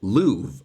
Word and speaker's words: love: research and found that the way they pronounced love back in the day was as Louvre. And so back in Shakespeare's time, Louvre, I love you, and remove would then rhyme with each other, where I guess today